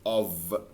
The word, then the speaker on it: of: الكلمه دي المفروض النطق الصح بتاعها of. of هي مكتوبه بحرف الاف فعلا، هي المفروض يعني شكلها كده كانها بالاو والاف، هي فعلا بالاو والاف، لكن نطقها بننطقها كانها of، كانها كده يعني، كانها بالفي.